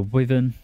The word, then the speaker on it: Wyvern: An absolute must-buy for any Brit-bongs is a Wyvern. That is how you pronounce it.